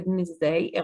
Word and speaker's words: Wednesday: كنا زمان طبعا بندرسها انه غلط جدا اني اقول Wednesday، غلط جدا اني انطق دي. دلوقتي بقى في تغيرات في اللغة بتحصل، وبقيت بسمعها في البي بي سي عادي جدا بينطقوا الدي، مفيش اي مشكلة يعني.